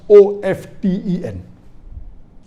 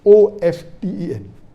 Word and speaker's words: often: Some will say often, some will say often. Previously it was often, then it became often. Now new people are saying no, often is correct. T is not silent, it should be pronounced.